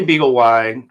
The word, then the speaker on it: BeagleY: was calling this the Beagley AI. Uh I thought of it as the Beagle Y AI. What do you call it? I say beagle. Why? Um, you know, why? Because it rhymes with pie.